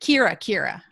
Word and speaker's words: Keara: It's Keara, actually, like Shakira the singer without the sh.